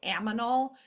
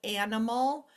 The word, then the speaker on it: animal: I think of my students who say aminal instead of animal.